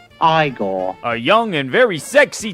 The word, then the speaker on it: Igor: guy with the eyes he played Igor now it's pronounced Igor a young and very